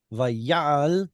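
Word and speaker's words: וַיַּעַל: Vayal, and of course, the stress being put on the yod is a result of apocompation. And again, see how it's a short vowel in an open syllable? Not allowed unless it's stressed, and it is.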